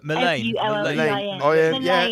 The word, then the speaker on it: Mullein: I call it Million, but he says it's meant to be pronounced Million or something. Mullein.